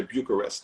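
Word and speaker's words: București: And then Bucharest, Romania comes up. Or as they say, Bucharest. That's how you say it in Romanian.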